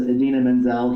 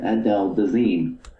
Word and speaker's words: Idina Menzel: to introduce her but instead of introducing her as idina menzel he pronounced it adele dezine oh and the teleprompter